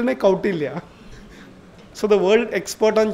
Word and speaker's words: Kautilya: And he said, Kautilya nahi, Kautilya. So the world expert on Chanakya did not even know how to pronounce Kautilya.